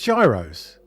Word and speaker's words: Gyros: Gyros sad guos yes Euros yes but it's Gyros if you don't want me to pronounce the G don't put the G there it's Gyros I'm Italian